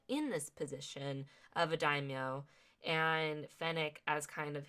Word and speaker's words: daimyo: And Fennec is very focused and ruthless and very serious, while Boba's kind of just like, hey, I'm the daimyo.